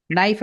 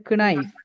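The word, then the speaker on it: knife: K sound மாதிரி சுனாமிய tsunami டிசுனாமி அப்படி சொல்லுவோமா நைப் வந்து கினைப் அப்படின்னு சொல்லி கே ப்ரோனௌன்ஸ் பண்ணுவோமா இல்ல அப்படில்லாம் ப்ரோனௌன்ஸ்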